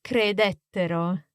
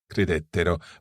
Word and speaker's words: credettero: Again, we have these two options, crederono or credettero. Okay, crederono, credettero. But in each case, watch the stress. Esatto. The third last syllable.